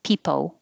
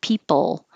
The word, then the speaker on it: people: usually and 50 people be sure to not round your lips for the l and say pepo so if you if you think you do that record yourself watch yourself on webcam on video and even the slightest lip rounding can make the l sound like an o people instead of people